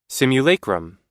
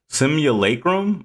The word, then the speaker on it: simulacrum: Simulacum. Simulacrum.